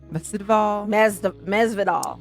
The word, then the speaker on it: Masvidal: Masvidal.